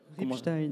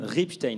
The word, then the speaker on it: Ribstein: veux pas mal je veux pas mal le prononcer c'est redites-moi c'est Ripstein Ripstein merci donc vous êtes champion du monde mais